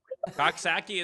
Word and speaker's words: Coxsackie: Coxsackie is correct. Is that right? Okay. Just like it sounds then.